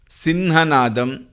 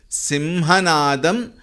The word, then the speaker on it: सिंहनादं: Here some people chant it as Simhanadam, Sinhanadam, north and all, but the acceptable pronunciation would be Simhanadam Vinadyochaihi.